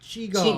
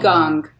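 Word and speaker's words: qigong: It's q i g o n g and it's chiong. Chiong. Chiong is how it's pronounced. Yes. All right. Like a gong.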